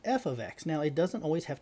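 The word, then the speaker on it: f(x): my independent the name of the function is pronounced f of x now it doesn't always have to be f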